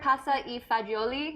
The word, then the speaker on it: pasta e fagioli: with is one pot pasta am am i pronouncing this right pasta e fagioli yes my Italian is a little rusty yeah